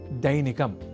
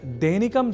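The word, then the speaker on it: दैनिकम्: अब वाक्यगत अभ्यासार्थ अगला शब्द है दैनिकम जहां ऐ इस अक्षर का प्रयोग है। तो हम दैनिकम जैसे अशुद्ध उच्चारण ना करें।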